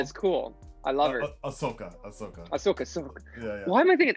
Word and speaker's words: Ahsoka: I myself, Ashka is cool. I love her. Ahsoka.